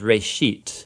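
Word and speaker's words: בראשית: of it's called Genesis Genesis comes from a Hebrew word it's pronounced race sheet and it just means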